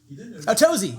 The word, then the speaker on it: Tozy: Tozy. Yeah, he said that. Tozy. We've been saying it right.